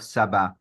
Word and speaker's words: Shabbat: But we also have the Spanish people had difficulty saying the sh, for example. So we speak of Sabbath instead of Shabbat.